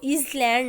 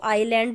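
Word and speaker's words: island: आइलैंड का आई capital होगा, इसको इज लैंड नहीं पढ़ना है, इसमें एस साइलेंट है, ठीक है, इसको आइलैंड बोलना है।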